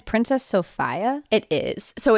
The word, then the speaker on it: Sophia: But according to different maritime museums that make videos about this particular disaster, it is pronounced Sophia.